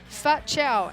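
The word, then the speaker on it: Phat Chau: his father and then fat chow and then it says pronounce like fat chow because you would pronounce fat chow some some different ones spelt p-h-a-t yes c-h-a-u i don't know how else you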